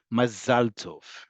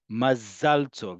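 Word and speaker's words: מזל טוב: Mazalto. Remember what I talked about that the emphasis in modern Hebrew is on the last syllable. Mazalto.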